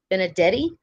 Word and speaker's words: Benedetti: I'm going to be in New Orleans with Sherry Benedetti.